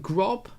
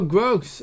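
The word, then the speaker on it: Groß: It's German. That whatever that letter is pronounced Gross. It's like no. It looks like a B.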